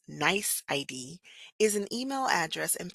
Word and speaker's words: NYC.ID: to have a nyc.id a nyc.id pronounced nice ID is an email address